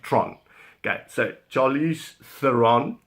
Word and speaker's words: Theron: Now, they call her overseas, they call her Charlize Theron, which is nonsense. She's Afrikaans girl, she comes from South Africa, and we pronounce it Tron. Okay, so Charlize Theron, Tron, that is my third most favorite actress, I would say, out there.